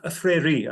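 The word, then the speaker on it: Freire: but when Hankins and Freya wrote their paper uh which came out as I said a year or two ago uh afraere I guess I should say that's the Portuguese pronunciation um they they gave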